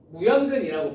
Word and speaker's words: 무연근: 발음에 주의하세요. 아시겠죠? 이거 남자애들이 가끔 개 헛소리하면서 막 이걸로 노래 부르고 다니고 막 그러는데 그런짓 하면 안 돼. 알겠지? 자, 무연근이라고 불러요.